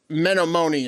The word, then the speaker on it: Menominee: fucking hilarious for you guys to try and pronounce. Have a great fucking day. And I have that list right here. Hey, look. Menominee is cooler.